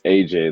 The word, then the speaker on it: Agyei: How do you pronounce your last name? It's AJ.